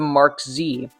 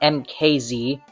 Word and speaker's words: MKZ: before being changed to Mark Z. Yes, it's pronounced Mark Z, not MKZ.